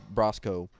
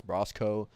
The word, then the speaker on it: Brosko: of been like was Brosco I say Brosco because that's how he pronounced his name in some video Ben